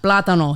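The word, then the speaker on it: plátano: i love plantains yeah platano you have to say it like that like you're in miami yeah okay so now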